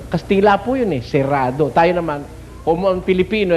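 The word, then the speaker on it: cerrado: Ang tamang pronunciasyon eh serado eh. Mga ninuno nating hindi marunong talagang kastila ginawa sarado. Ayon sarado pero talagang serrado.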